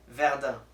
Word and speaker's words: Verdun: It's actually pronounced Verdun. Verdun. Yeah, sure. Like Verde. Sure. Like No, You Verde. have to keep in mind that the French, they basically take off the last consonant.